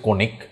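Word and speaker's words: conic: সি ও এন আই সি উচ্চারণ হচ্ছে কণিক।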